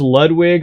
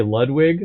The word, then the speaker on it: Ludwig: just so uh uh well Ludwig is that's how you say it in German so it says Ludwig I guess you could say Ludwig also but I don't know